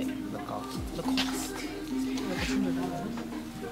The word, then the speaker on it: Lacoste: Lacoste.